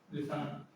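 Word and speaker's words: listen: अंतिम अक्षर टी ई एन हो, तो टी साइलेंट रहता है। जैसे कि लिसन, लिसन टू मी बोलते हो ना, मेरी सुनो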